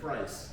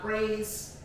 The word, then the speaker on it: Pri$e: Big price. That ain't with an E. It's not praise. It's not priest. It's price. That way. You said that priest? Price. Big price, not small. Price your ass out. But it's spelled like prize because.